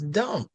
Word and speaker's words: dumb: If you get shot and all of your blood drains out, your body becomes dumb.